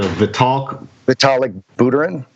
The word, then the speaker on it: Vitalik Buterin: You can pronounce his name, Steve Larson. Yeah, but I'm talking the Vitalik Buterin. Yes, It's actually Vitalik Buterin, who was tweeting last week that all crypto